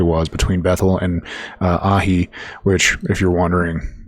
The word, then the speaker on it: Ai: So he's returning exactly where he was between Bethl and uh Ai which if you're wondering I'm saying that pronouncing it that way because phonetically in the Strongs it says Ai.